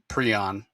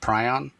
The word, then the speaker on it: prion: And that's pronounced prion. Okay. But the bird is pronounced prion. So okay. If you're curious, Rocky is saying it correctly. Prion, as opposed to if you say prion, you're talking not about the bird, but about those malformed proteins.